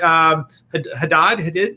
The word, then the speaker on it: Hadid: I always mispronounce her name. What? Hadid.